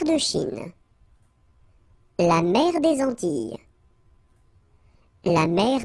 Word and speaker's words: Antilles: So you get this E sound. Antilles.